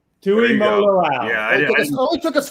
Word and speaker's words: Tuimoloau: I was going to say, I was going to have Bill pronounce his last name because he does it so perfectly. Tuimoloau. Tuimoloau.